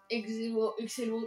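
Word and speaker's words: Exelo: Excello. Prononcez comme vous voulez, je prononce Excello.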